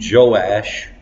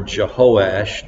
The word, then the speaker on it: Joash: at the rule of King Joash, or Jehoash, depending on the Hebrew pronunciation, who ruled Judah from about 835 BC until 796 BC.